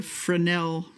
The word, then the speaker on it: Fresnel: Oh man, I've got an old uh my mom gave me a Frenel that's spelled Fresnel with a capital F.